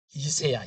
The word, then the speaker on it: 이새: 발음을 잘 하셔야. 이새야, 이새.